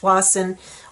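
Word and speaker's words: Tsawwassen: wasa RV park and how it's said is nothing like how it's spelled so just look up tws and you might get started on it but Wasson RV park is the tuas and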